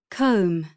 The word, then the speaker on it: comb: B comb.